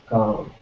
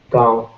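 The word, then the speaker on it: गाँव: And village in Hindi we say gaon, gaon. And if you are already familiar with Devanagari script, you can write it like this, gaon. That's village, gaon.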